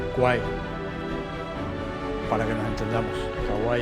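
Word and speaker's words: Kwai: Kauai es como pronuncian ellos, río Kauai.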